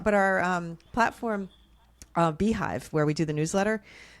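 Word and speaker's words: Beehiiv: It's beehive. It's called Beehive. Be e h i v. So it's spelled with instead of h iv it's h i iv.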